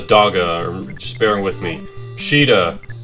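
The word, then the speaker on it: Caeda: Sheeta, even though it's spelled with a C, and anyway.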